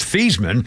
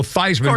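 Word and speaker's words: Theismann: and by the way his name was theeman and they changed it at Notre Dame to rhyme with Heisman Joe Theisman became Heisman but his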